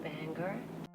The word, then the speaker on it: Bangor: The movie's in Bangor. Yeah, as I've alluded to in the past, a lot of people that aren't native Mayers think Bangor is pronounced that, I can attest that it's not.